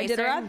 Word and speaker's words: Iditarod: Yeah, Iditarod.